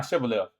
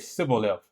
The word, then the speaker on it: Shibboleth: They cannot pronounce chin and sound properly, saying Sibboleth instead of Shibboleth.